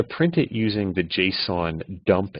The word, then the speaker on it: JSON: going to import a library called JSON it's pronounced JSON and it stands for JavaScript object notation and